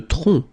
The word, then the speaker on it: tronc: Le tronc. Le tronc, okay, remember, final C is not pronounced here.